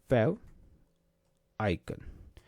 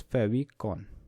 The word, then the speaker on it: favicon: topic we are learning today so topic is fav icon so sometime people uh pronounce it like this favon or sometime it is called as fav icon